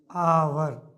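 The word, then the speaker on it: hour: आप देखिए इसमें से जो प्रोनाउंसिएशन है आवर में, अगर हिंदी में हम लिखते हैं उच्चारण आवर, क्या आ गया? आया तो आया तो निश्चित रूप से ये है, इसका माने कि ओवेल, इसके पहले हमें एन आवर होना चाहिए।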